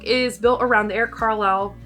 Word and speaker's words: Carle: Now this book is built around the Eric Carle, I always say it wrong, it's Carl, but Eric Carle Museum of Picture Book Art.